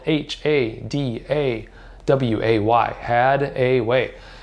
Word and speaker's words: Hadaway: h8 a waa why had a way just like it sounds that's how it's spelt